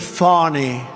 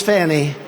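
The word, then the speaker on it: Fani: It's F-A-N-I. She pronounces it Fawny. I don't see it. To me, it's Fannie.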